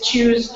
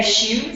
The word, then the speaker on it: Choose: Choose Chicago. So to spell it, C-H-O-O-S-E, Chicago. Sorry. No, it's okay. I've heard people say shoes, and I'm like, oh, okay, shoes.